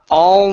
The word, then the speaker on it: all: is the word all make sure you're using your tongue to pronounce the L here so it's uh all moving all moving good